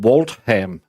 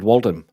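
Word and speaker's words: Waltham: saying it wrong wrong how can Walt ham be pronounced Walt ham why is it walam why do you choose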